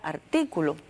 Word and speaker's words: artículo: Tenemos además el caso de la palabra artículo, que como ustedes pueden observar, si la dividimos en sílaba, tiene la fuerza de pronunciación en la antepenúltima sílaba, o sea, que es una palabra esdrújula.